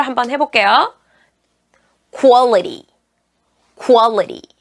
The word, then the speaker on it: quality: 자, QU로 시작되는 q 발음을 어떻게 하실지 몰랐었죠? 다 퀘스천, 퀘스트 뭐 이런 식으로 쾌 이렇게 발음을 하셨는데 사실 이거는 쿠아 발음으로 해주셔야 돼요. 자, 그 발음으로 한번 해볼게요. Quality, quality.